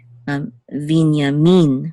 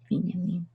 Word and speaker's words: Binyamin: And also with Benjamin, accent on the first syllable. But in Hebrew, it's Binyamin with accent on the last syllable. Binyamin.